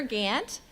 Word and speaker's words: Gant: father, and that's Turner Gant. Turner Gant, my dad is from East Texas. He's from Athens. Turner Gant. He was so proud of the Gant lineage, spelled like Gaunt, G-A-U-N-T-T.